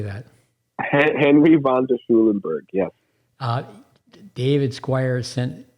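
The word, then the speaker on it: von der Schulenburg: into a question and help me with the pronunciation Henry Von schnuelenberg how do you say that Henry vonder Schulenburg yes uh David Squire sent him to me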